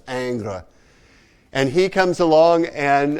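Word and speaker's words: Ingres: john genus dominic aang it looks like ingers or something it's pronounced angra and he comes along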